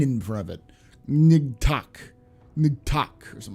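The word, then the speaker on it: Ngatac: in front of it nigtok nigtok or something like that gorilla for sale magilla gorilla it's n-g-a-t-a-c is how you're supposed to say it like new organ yeah attack uh do you know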